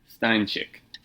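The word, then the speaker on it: Stańczyk: I need to call a Polish friend to figure out how to pronounce this name. Stanczyk.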